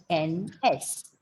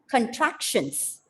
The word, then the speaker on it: contractions: Contractions. And obviously, the second last syllable has to be stressed. And here, first syllable should be reduced to a schwa.